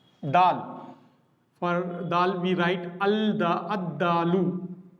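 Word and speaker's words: الدالُ: For dal we write ad-dalu. Instead of pronouncing al-dalu, we pronounce this as ad-dalu.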